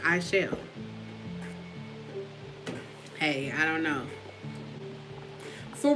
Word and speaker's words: Aichelle: I be getting Achilles. There is no R in my name. It's Chelle. The A is silent. It's just Chelle.